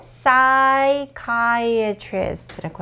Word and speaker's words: psychiatrist: 이 P가 묵음이죠. 그래서 이게 없고 psychiatrist라고 하면 정신과 의사, 정신의학자를 얘기하는 표현이죠.